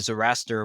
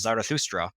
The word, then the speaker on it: Zoroaster: They may know or have heard of Zoroaster more from the other translation or pronunciation of the name, which is Zarathustra, which is the title of Nietzsche's magnum opus, Thus Spoke Zarathustra, which is one of